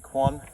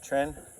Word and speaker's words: Quan: Tren uh spelled qu u n which is actually like English people pronounce it or westerners pronounce it quan. It's actually in Chinese tren.